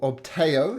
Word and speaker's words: Ubtao: Ubtao, or Obteo, as it's sometimes pronounced, is the god of the jungle.